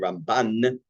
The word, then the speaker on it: Ramban: more, is the Rambam, we say Rambam with the accent on the first syllable, which is Mil'el, and Ramban and Milra, we put the accent on the second symbol.